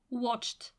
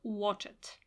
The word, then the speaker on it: watched: add to the verb watched as pronunciation not watch it we speak on the